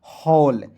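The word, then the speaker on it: hall: हैं तो सभी में ए डबल एल जुड़ा हुआ है। ठीक है? तो इसका उच्चारण आंख मूंदकर ऑल के रूप में कर लीजिए तो हो जाएगा हॉल।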